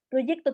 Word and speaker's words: proyecto: Primero, tiene una, no está en sílaba directa, tiene una r después de la imagínate ese sonido, pro, proyecto, tiene una Y que está funcionando como con un sonido y, proyecto.